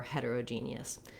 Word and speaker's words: heterogeneous: no other option for heterogeneous so looking at that word we do have the stress on the gene syllable and some secondary stress on this first syllable hat so it has